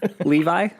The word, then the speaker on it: Levi: name wrong is it is it really like levi i i just say leavey but as long as